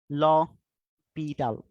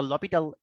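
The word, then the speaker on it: L'Hôpital: আচ্ছা, এল হসপিটাল, বানানটা এল হসপিটাল, বাট এটার প্রোনাউন্সিয়েশনটা হচ্ছে ল পিটাল।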